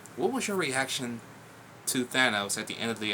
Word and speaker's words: Thanos: his name was at first I call him Thanos I don't know why but after watching a couple people's YouTube videos and his his name was actually pronounced Thanos I was like huh pretty cool but at